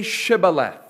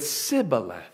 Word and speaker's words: Shibboleth: When he said no, then they said to him, then say Shibboleth. And he said, Sibboleth. For he could not pronounce it right.